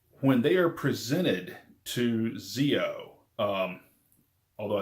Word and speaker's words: Zi-O: When they are presented to Zio, although I think the show actually pronounces it, I saw a pronunciation came in, I think it's pronounced Geo, Um, but when they're